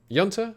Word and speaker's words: junta: that's about it mexican junta yanta you pronounce it yanta are doing all right